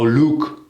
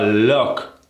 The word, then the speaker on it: look: pronunciation that we forget oh look a lot of people tend to go Luke can you take a look take a look versus take a look it's sort of an open puckered sound oh try it oh take